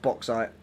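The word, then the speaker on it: bauxite: Uh, we got I was wrong. It is uh pronounced boxite. Uh, the game pronounced it.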